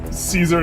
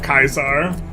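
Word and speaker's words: Kaiser: How dare you pronounce it? uh Caesar instead of Kaisar basically. I've had someone p correct my Kaisar pronunciation that it's more geyser, but like uh yeah, Project Kaisar.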